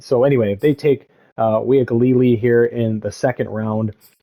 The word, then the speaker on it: Uiagalelei: pronunciation stuff of like, UIA makes the we sound or whatever. But a friend of mine who born and raised in Hawaii always told me that the easiest way with some of these Polynesian names is you just pronounce every vowel, right? So Uiagalelei, right? So if you kind of just break it down slowly.